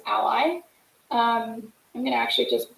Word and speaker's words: a11y: will misspell it um so a11y but short is ally um i'm gonna actually